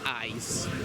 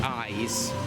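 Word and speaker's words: Eis: I think it's pronounced ice. It's spelled A's, but it's pronounced ice.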